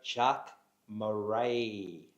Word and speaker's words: Jacques Marais: Welcome to the show, Jacques Marais.